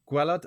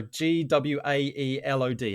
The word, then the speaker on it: Gwaelod: So is it Cantre Gwelod? Oh no, Gwaelod. How would you pronounce that one? Gwa, go on. Elod. Elod. Gwelod?